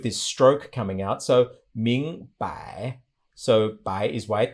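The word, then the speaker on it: 明: to mean bright now the way to say it in modern chinese ming means bright but then we can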